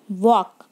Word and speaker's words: walk: Right, फिर है वॉक, WALK, वॉक, WALK, वॉक। यहाँ पे वॉक में एल है, वो कैसा है? साइलेंट है।